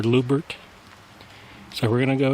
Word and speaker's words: Loubert: lubert number 10 mine it's spelled l o u b RT lert or lubert so we're going to